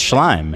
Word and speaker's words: Schleim: Yeah, it's Schleim.